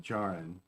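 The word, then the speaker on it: Djarin: of didn't join them it's where it's with a silent d jaren dingell so so we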